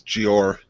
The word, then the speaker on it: Jeor: Yeah, I don't know how to pronounce it. It is Jeor.